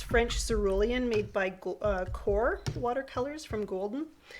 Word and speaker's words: Qor: It's French cerulean made by Core Watercolors from Golden. Core is spelled Q-O-R.